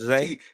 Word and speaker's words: Xavier: Jacoby outthrows Zay? T-set. Yeah. Okay. All right. So how you pronounce it first name? So Xavier with the C? I'm not even trying that, Jay. It's Zay.